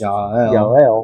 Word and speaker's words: Jael: So yeah, so Yael, pronounced Yael, Yeah. spelled Jael, so Jabin, probably Yabin.